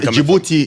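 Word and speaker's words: Djibouti: saying it right okay jouti is in French I say it in French might be in uh the way that they would say it properly in English yeah Mak sense yeah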